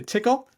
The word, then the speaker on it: TCL: um I usually set TCL but I have to say tickle so tickle this we're gonna be corrected recently by people on that I know I know yeah yeah so I should probably uh pronounce it tickle um like the uh